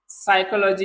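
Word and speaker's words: psychology: हमारे पास पी भी साइलेंट होता है, जिसे हम लिखते हैं साइकोलॉजी। तो साइकोलॉजी में क्या होता है, हमारा पी साइलेंट है, देखो है साइकोलॉजी।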